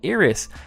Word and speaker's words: Iris: pronounced right wrong as instead of calling her iris they decided to call her eros as in Japan they pronounced a singular vowel I as ii-era nya is another